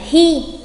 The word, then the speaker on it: 日: Ngày thì chúng ta sẽ đọc là hi.